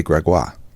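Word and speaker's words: Grégoire: I always would say my name is Gregoire because in French it's Gregoire. Instead of Greg. It's like Gregory, but they say Gregoire, and people they got it instantly.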